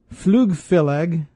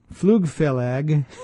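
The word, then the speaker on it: Flugfélag: their pronunciations i'm sure flughhhh phil egg flughhhh phil egg FL ug f e with an accent l AG flug Fellig islands and o Iceland's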